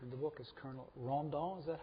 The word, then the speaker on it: Rondon: most remarkable character in the book is Colonel Ron dolls at how it's pronounced Colonel Candido da Silva Ron Dunn yes could you talk a little bit about